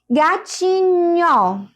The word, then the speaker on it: gatinho: Então, quando eu pronuncio duas letrinhas, por exemplo, ó, gatinho. Vejam que o nho, ele é escrito com NH, não é? Gatinho. Eu escuto apenas um único som, nho, nho.